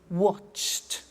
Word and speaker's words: watched: We don't say watched, we eliminate the E and we say watched.